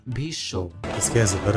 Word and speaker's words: Bhishma: Also take the example of Bhishma in Hindi. This is pronounced as Bhisho.